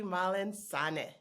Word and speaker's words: Mallensanneh: in Plano Texas I'm gonna let you pronounce that last name my name is malen San oh beautiful absolutely beautiful a soccer stars